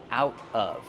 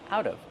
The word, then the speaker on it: out of: out of the oven out of pronunciation out of the tea changes to a fast tea out of out of I take